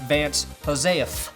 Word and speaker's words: Joseph: need my restaurant to do better I'm hiring Vance Joseph which technically is pronounced Vance Josef if you want to be correct about it